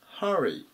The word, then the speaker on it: hurry: う単語です。749 番、 Hurry、 Hurry、最初のここでふ